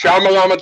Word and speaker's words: Shyamalan: Night Shyamalan, and since I never pronounced his name correctly. And it's Shyamalan ding dong.